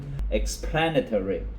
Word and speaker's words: explanatory: Explanation, and consequently, the pronunciation is different. Explanatory，咁跟住嗰個形容詞咧，嗰個 plan 嗰度重音喎。